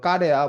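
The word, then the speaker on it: Корея: 말은 고려라는 말이 퍼지면서 이제 코리아 그래서 뭐 러시아식 발음으로는 까레야 뭐 이런 식으로 이제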